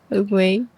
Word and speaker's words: Oogway: Yeah, Ogwe.